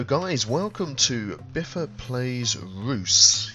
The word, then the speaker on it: Reus: welcome to biffer plays Roose yes that is the way to pronounce it I know immediately upon looking at the word you want to say Reus or ryus but it's Roose which is Dutch for giant and this is a